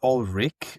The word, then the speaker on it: Ulrich: And our guest today in particular, is it Ulrich? Did I pronounce it right? I pronounce it Ulrich.